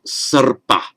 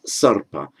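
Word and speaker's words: सर्प: That now makes sarpa. And it's a bit counterintuitive because it looks as if it's following the p. But where you get that hooked r there, that always is pronounced first.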